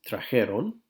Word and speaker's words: trajeron: he stays the harem now try not d here on which just sounds weird the harem it's just a pronunciation and they took the eye out for that reason traje try he stay